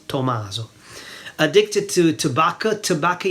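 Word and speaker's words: tabacco: Tobacco in Italian is tobacco. Tobacco. So not tobacco, but ta with the a tobacco.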